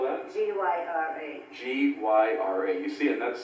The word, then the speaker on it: Gyra: How do you spell that? G-Y-R-A.